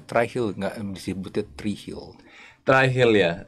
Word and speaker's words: Trihill: gua lihat baca gitu Gua jadi kebaca e tre heill try heill atau apa sih ini tapi ternyata bacanya try Hill try Hill try Hill